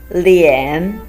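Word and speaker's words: 脸: It's a combination of le and yan with the third tone. Lian.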